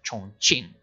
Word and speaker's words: Chongqing: Obviously, Chongqing, or Chongqing, as I should pronounce, became the capital of China during that time.